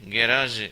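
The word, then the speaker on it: garage: talent என்றால் திறமையை குறிக்கும் அடுத்த வார்த்தை கேராஜ் இதை கேராஜ் என்று உச்சரிக்க வேண்டும் இது கார்களை நிறுத்தி அதை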